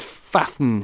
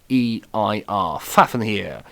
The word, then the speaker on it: Fafnir: to pronounce now now i have said fathen here as his name um but that's probably wrong f-a-f-n-h-e-i-r fafnir is how i've chosen to pronounce that and he is the